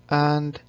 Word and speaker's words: へ: particle A particle A shows direction this letter originally represents her sound but when the letter is used as a particle it is pronounced a particle 私は I 海へ Toザ sea 行きます。